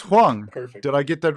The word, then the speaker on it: Huang: So, Yumi, is it pronounced Huang?